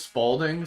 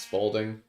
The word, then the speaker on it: Spalding: His name is Spalding. Um because it rhymes with balding.